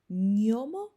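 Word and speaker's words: gnomo: zajęć z wymowy dzisiaj zobaczymy jak będziemy czytać zlepek literek g i n obok siebie ten zlepek występuje w takiej bardzo popularnych włoskich słowach jak niomo oraz nioki Zobaczcie Mam nadzieję że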